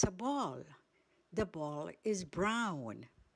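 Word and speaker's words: braun: Brown in German. It's brown. Spelled B R A U N. So easy to remember. Just like in English, the same pronunciation.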